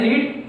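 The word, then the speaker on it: read: लेकिन बोलना अलग होता है, पहले रीड फिर रेड। पहली फॉर्म को हम बोलते हैं रीड, सेकंड फॉर्म की जो प्रोनाउंसिएशन होती है वो क्या होती है, रेड। थर्ड फॉर्म की भी रेड। रीड नहीं पढ़ते लेकिन स्पेलिंग सेम होती है, सेकंड और थर्ड फॉर्म स्पेलिंग सेम है तीनों में, लेकिन प्रोनाउंसिएशन क्या होती है, पहली को रीड, दूसरी को रेड, तीसरी को रेड, ठीक है।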